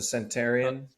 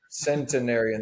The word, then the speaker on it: centenarian: A Uh, centurion, or is there another Centenarian. centenarian? There's another Yeah, syllable in there.